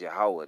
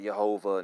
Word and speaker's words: Yahweh: Okay, when you go to H3068, the proper pronunciation is Yahweh, not Jehovah, not Jehovah.